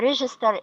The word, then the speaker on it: register: register and by the register the the stress is on the first syllable now I'm going to